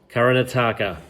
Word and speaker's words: Karnataka: It's actually got 70 million people in a southern state of, I'm going to get the pronunciation right, I'm going to get it right one day. You ready? Karnataka.